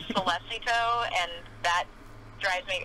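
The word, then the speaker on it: Sollecito: They also say like Solecito, and that drives me. It's Solecito.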